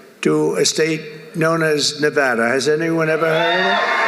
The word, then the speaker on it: Nevada: And don't ever mispronounce the name. You're not allowed to do that, Joe. You mispronounce the name, you got a problem. You ever see somebody when they say it's Nevada? Nevada? No, they're in deep trouble.